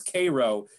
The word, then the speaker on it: Cairo: missouri come together and even though they mispronounce it and they pronounce the name of their city as cairo it's full of egyptian